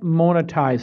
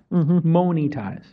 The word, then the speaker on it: monetize: say is you can't monetize it mony ties yep I say it wrong monetize but you can't monetize